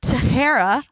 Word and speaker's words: Teixeira: Mark Teixeira.